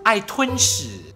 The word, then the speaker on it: iTunes: iTunes.